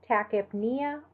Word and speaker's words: tachypnea: A PN in the middle of the word, you actually are going to pronounce a hard P and a hard N. So tachypnea or hypopnea.